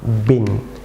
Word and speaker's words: bean: Viewers যেমন লক্ষ্য করুন এর BEAN, বিয়ান, নট বিয়ান। Viewers এটি এখানে ইএ যুক্ত আছে, ভিউয়ার্স এখানে এই সাইলেন্ট থাকবে, এটি হবে অবশ্য বলুন বিন, বিন, বিন, বিন।